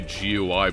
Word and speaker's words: GUI: Why do I pronounce gooey as gooey? Cuz that's what it is. What do you want from me? I mean, some people say gui, but that's just because they don't want to say gooey.